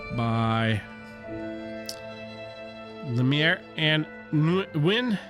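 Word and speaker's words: Nguyen: I think Win is how you're supposed to pronounce that. This was cool. I didn't, like, have a burning desire to check out Volume 2 or anything after that, but the art was cool. It was different. If I see it, it's pronounced Win. Thank you.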